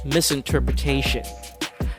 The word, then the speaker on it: misinterpretation: with me misinterpretation take note on the last syllable i did not make any y sounds which which is what most people do miss interpretation misinterpretation it's like you're connecting the sh sound of the tio right directly to the n sound at the end of the word give it a try